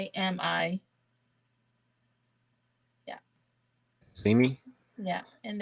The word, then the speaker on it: cazimi: sorry, C as in Charles, Z as in zebra, I, so Kazimi. CZ. Yeah, it's Cazimi.